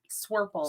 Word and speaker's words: Swirple: Swirple. Swirple. It's the only word that rhymes with purple.